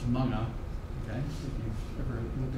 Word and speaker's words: mga: This MGA is pronounced manga.